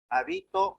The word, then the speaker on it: habito: La función distintiva es aquella que el acento puede recaer en la primera, segunda o tercera o cuarta sílaba. Tenemos palabras con funciones y significados distintos. Por ejemplo, hábito, habito o habitó. ¿Ya? La función del acento en este caso es distinguir una de otras palabras.